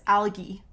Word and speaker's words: algae: say algae however you might hear the G make more of a g sound in some areas algae is what is said in some areas so it depends on where you are for the pronunciation so the words that